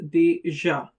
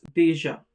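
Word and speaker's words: déjà: And the last is deja which means already. And you already know that the grave accent on the letter A doesn't change the pronunciation. It's deja.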